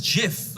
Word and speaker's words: GIF: behind in earnest well the g stands for graphics that's a hard g so i say gif the guy who invented it says it's jif i'm sorry do you